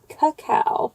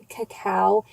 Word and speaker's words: cacao: And then I got a cacao, not cocoa, but cacao. There's kind of some debate on that on my TikTok channel. I pronounced it cacao.